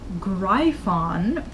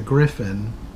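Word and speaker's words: Gryphon: little sense and they wander off to the greif on according to them was apparently the way to pronounce that like everybody pronounced it as greif on its a Griffin I don't know where they got the pronunciation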